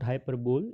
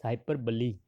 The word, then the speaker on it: hyperbole: Remember the pronunciation, it's not hyperbole, it's hyperbole.